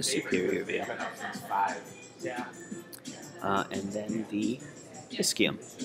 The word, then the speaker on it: ischium: And then the ischium. It's going to be the inferior most part of the hip bone. Never know if you're just going to get clogged. And that CHI is pronounced key. Ischium.